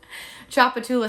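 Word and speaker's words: Tchoupitoulas: down here chapatullah street you're probably thinking what the heck does that say the tea is silent choppatoula street it also has we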